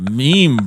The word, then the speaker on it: meme: it's like an imitation you know who I can't stand it's the pronunciation the pronunciation sorry of meme that is fr FR calls it a mem a me I'm like just like does he also say GIF I'm like it's a meme bro it's like no it's